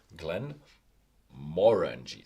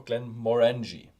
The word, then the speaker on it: Glenmorangie: we trying Glenn morenji it's actually a Gaelic name so pronounced on the second Salem syllable so it's Glenn moranji so it's uh or Glenn moranji as well like that yeah Glenn